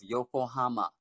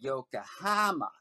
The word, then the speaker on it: Yokohama: So for example, the city of Yokohama, a lot of Americans will say they'll put the accent on the ha, and so the ko will become ka. So it'd be Yokohama or Minami Rinkan, Minami Rinkin.